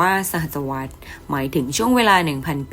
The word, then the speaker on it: สหัสวรรษ: แต่ ค.ศ 2001 ถึง สหัสวรรษ อ่าน ว่า สหัสวรรษ หมาย ถึง ช่วง เวลา